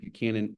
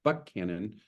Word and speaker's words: Buchanan: Or if you're familiar with Central Texas, it's also near the storage capacity of Lake Buchanan or Lake Buckhannon, depending on how you pronounce it, here in Central Texas.